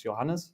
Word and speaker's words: Johannes: So my name is actually it's Johannes. That's how you pronounce it.